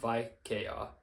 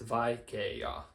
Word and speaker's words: vaikea: It's not vaikea, it's vaikea. So these are distinct vowels, which means, again, we're just going to follow this rule, double that a and add n.